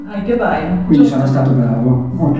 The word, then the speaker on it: Heike Beier: Allora, innanzitutto si scrive Heike Bayer, ma si pronuncia? Heike Bayer.